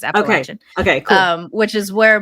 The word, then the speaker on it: Appalachian: talked about this area before, that I might mispronounce the name of the Appalachian. Is it Appalachian? So Appalachian is correct. So a lot of people say Appalachian. That's not correct. It's Appalachian.